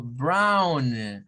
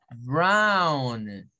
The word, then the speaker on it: brown: Au se pronuncia como Brown así Brown en donde Miren esta o se convierte en la O con la W Mejor dicho se convierte en un sonido aún Brown el postre los famosos